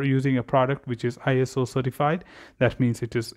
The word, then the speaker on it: ISO: for Standardization, but actually it is IOS, pronounced as ISO, but it was initially declared as International Organization for Standardization.